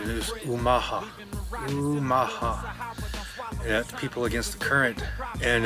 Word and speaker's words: Omaha: Omaha is named after the Omaha tribe correct pronunciation is Omaha Omaha people against the current and um you know